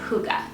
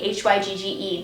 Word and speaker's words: Hygge: It took me a second to realize how to pronounce this because, as you can see, H-Y-G-G-E does not make me think Hygge, so it's pronounced like H-O-O-G-A.